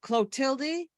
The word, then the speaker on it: Clotilde: But Monique Hardin-Cordero: quote Clotilde. Hon. Daria Hardeman CB9 Arts & Culture: Did I say that right there? The the the E is silent.